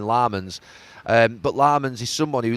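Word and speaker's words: Lammens: I say Lemons and they're going Lamans.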